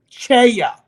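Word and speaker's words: CEIA: And the new sponsor is Cheya. And it's spelled C-E-I-A.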